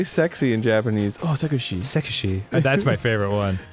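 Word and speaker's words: セクシー: Oh, Sekushi.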